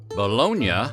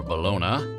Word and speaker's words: bologna: Bologna, or Bologna, or Baloney, whatever your pronunciation, is pork, beef, chicken, turkey, or a